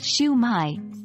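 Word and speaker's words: Shwmae: I or Haya while in Wales schwa Mai pronounced shumai is used in some areas while these aren't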